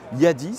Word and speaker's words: Yadea: sur le stand de yadea alors à prononcé plus exactement y a 10 si vous souhaitez le dire à la chinoise en tout cas c'est comme ça qu'il faut le prononcer oui c'est un constructeur